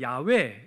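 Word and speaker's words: 야훼: 라고 이렇게 부르는 거죠 따라서 이 여호와라는 이름이 본래 하나님의 정확한 그 발음은 아닙니다 어떤 사람들은 야외 라고 발음하는 것이 더 맞다 라고 하는데 그것도 사실은 알 수가 없는 거죠 어쨌든 유대인들은 이처럼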